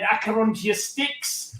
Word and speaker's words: Acherontia Styx: First of all, have I pronounced that correctly? And what the bloody hell is it? Paul, that's got to be you, man. Yeah, you certainly have pronounced it spot on.